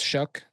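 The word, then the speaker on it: Shough: This is Shook. That guy. Yeah, That's how that's you say Shuck. it. That's how you pronounce his name.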